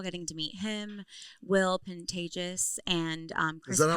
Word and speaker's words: Pantages: Which it was so wonderful getting to meet him, Will Pantages, and um Chris Is that how you pronounce it? Pantages. Pantages. Pantages. It's like contagious with That's what he That's what he said.